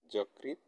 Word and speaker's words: যকৃত: 4 নম্বর নিয়ম শব্দের প্রথমে অধ্বনি থাকলে তারপরে ঋকার ব্যবহার হলে অয়ের উচ্চারণ ওকারের মতো হবে, অয়ের উচ্চারণ ওকারের মতো হবে। যেমন যকৃত যকৃত, মসৃণ মসৃণ।